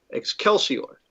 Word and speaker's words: excelsior: but we're not in a medieval church are we are we although look i usually would even do a a very classical roman pronunciation of this would have been with a hard c as a k ex calcior oh boy so it